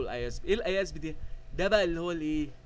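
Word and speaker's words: IASB: اي اس بي او اللي بينطقها اذب ما حدش بيقول اي اي اس بي بيقولوا الازب ايه الازب دي ده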